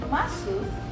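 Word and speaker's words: ます: des, ya, desu ataupun masu, maka u-nya itu hilang, dilesatkan. Jadi kalau melihat des, maka harus diucapkan. Kalau desu itu harus des, kemudian kalau masu itu menjadi mas.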